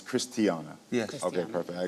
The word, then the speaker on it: Christiana: And let me be clear, I mispronounced her name. It's Christiana.